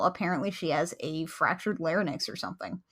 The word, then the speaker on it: larynx: she has a fractured lenox or something larynx O'Reilly is it just two syllables have I been pronouncing it wrong all these years yes possess has a